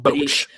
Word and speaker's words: Boetsch: Boetsch. So there's the E and the S. The E and the S don't count. Okay, Boetsch. Yep. Boetsch. Tim Boetsch.